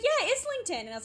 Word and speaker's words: Islington: Some of those names are not pronounced how they why is it called Islington? That is not how that is like spelled. That's spelled like Islington, and I will not I know.